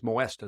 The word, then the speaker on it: Moesta: I think it's Moesta is the way you pronounce his last name.